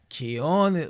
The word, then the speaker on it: cojones: Abri tiene cojones.